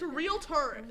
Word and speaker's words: realtor: yeah real hold on hold on real it's real tur it's real the first part of the word the first like syllable of the word well not syllable first